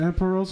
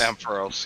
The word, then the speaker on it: Ampharos: I would even say in 2, was it Emperos? Is that how you pronounce it? Like it's Ampharos, yeah.